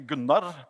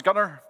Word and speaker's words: Gunnar: I'm Norwegian, so it's technically Gunnar, but I gave up having foreigners pronounce it right, so now it's Gunnar.